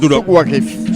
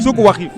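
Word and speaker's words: Souq Waqif: C'est comment on le prononce? Souk Wakif. Souk Wakif.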